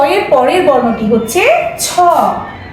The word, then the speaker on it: ছ: এর পরের বর্ণটি হচ্ছে ছ ছ এর মধ্যে বাতাস সহকারে আমরা উচ্চারণ করব লিখার সময় অবশ্যই পূর্ণমাত্রা